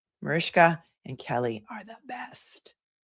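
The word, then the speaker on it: Mariska: She made it very clear that her the proper pronunciation of her first name is Marishka. Marishka.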